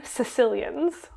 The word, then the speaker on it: caecilian: I am doing caecilians. Oh, I do know Do you them. know them? It's spelled C-A-E. Caecilian. Okay, And yeah.